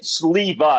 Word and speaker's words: Sliwa: So, my last name is Siva. It's pronounced the W is pronounced like a V.